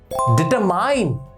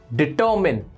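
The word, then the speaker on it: determine: The next word is डिटरमाइन। नो, इट इज डिटरमिन। डिटरमिन, याद रखिएगा ये डिटरमाइन नहीं होता, ये होता है डिटरमिन, डिटरमिनर।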